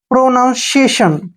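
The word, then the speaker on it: pronunciation: चलिए स्टार्ट करते हैं प्रोनंसिएशन पी आर ओ प्रो एन ओ यू एन यानी कि none C आई ए टी आई ओ N Seshan या प्रोनंसिएशन प्रोनंसिएशन का मतलब होता है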